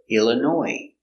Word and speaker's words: Illinois: is a city in Illinois Illinois comes from French too so we have a silent s in French words they have S at the end it's silent so Chicago Illinois not Illinois no s Chicago Illinois do you